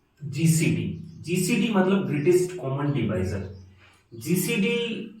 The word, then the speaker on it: डिवाइजर: जैसे अगर मैं इसको देखूं ग्रेटेस्ट कॉमन डिवीजर, तो इसमें सबसे पहले डिवीजर, कुछ लोग इसको डिवीजर बोलते हैं लेकिन इसका जो सही प्रोनाउंसिएशन है वो है डिवाइजर, तो अपन इसको डिवाइजर बोलेंगे।